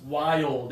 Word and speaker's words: wild: But for this one, slow it down to 2 syllables, wild.